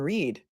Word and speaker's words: Read: in the case of Karen Reed which you could also pronounce as red H the things that